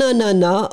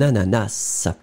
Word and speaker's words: ananas: ce que c'est alors ici effectivement avec deux prononciation possible mais bon en général vous n'entendrez pas le s1 à nana ce qui est très amusant a prononcé un ananas ou alors vous pouvez entendre parfois un ananas donc lé 2 prononciation que vous pouvez vous pouvez entendre un onana ou un ananas halliche 6e le 6e